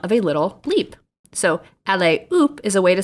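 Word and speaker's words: allez hop: phrase oop a-l-l-e-z h-o-p but the h in french is not pronounced uh so la is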